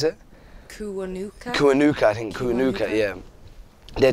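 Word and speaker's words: Kiwanuka: And yeah, and the Emily Sande, and I always pronounce his name wrong, Michael Kuanake. Is it how do you pronounce it? Kuanuka, I think.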